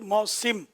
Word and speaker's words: موسم: موسم لفظ ہے, سین کے نیچے زیر ہے, جو آپ نے فرمایا ہے. اور موسم ہم لوگ عوام موسم ہی بولتے ہیں, لیکن صحیح تلفظ موسم.